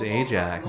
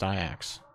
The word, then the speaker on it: Ajax: called I act yeah I thought it was Ajax no where he won this maybe like the